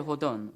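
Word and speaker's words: Hawthorne: 맺어요 이 소설을 쓴 나다나엘 호던 요즘은이라고 발음을 그대로 영어식 미국식 발음을 하는데요이 사람이 쓴 주홍글씨라는 책은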